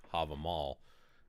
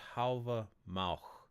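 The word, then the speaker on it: Hávamál: Now, of course, a lot of people say Havamal, but as far as I know, it's pronounced Havamal. That's the way that I was researching how to pronounce it.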